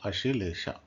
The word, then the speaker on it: Ashlesha: explore so how how how do you pronounce it you pronounce it AA asila that's how you pronounce this particular nachatra okay okay let's go